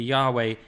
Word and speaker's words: Yahweh: And that's also where Jehovah comes from, because they didn't understand that it was meant to be pronounced as a W. They thought the JV thing meant they thought Jehovah's a good version, but Yahweh is not like Jehovah.